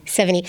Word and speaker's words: Sevigny: I loved the Chloe, how do you pronounce her last name? Sevigny.